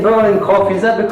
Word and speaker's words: Boërl & Kroff: the story but first off I've been saying burning coffee is that the correct pronunciation see first perfect yeah so current row